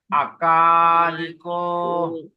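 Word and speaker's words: Akāliko: Short A, long A, short I, long O. Akaliko.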